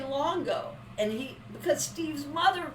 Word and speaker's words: Luongo: was old enough you pronounced our last name Longo the you is silent